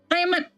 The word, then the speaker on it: Aemeth: Aemeth. Dibacanya biasa, Aemeth.